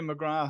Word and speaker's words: McGrath: fellow San Diegan, McGrath. How are you doing? Or McGrath, depending on how you want to pronounce it. As said, it's pronounced differently in our home country as it is here.